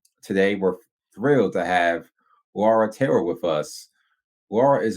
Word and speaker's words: Laura: Wait, before you start, my yep, name is pronounced Laura, like it has a U in it. Laura.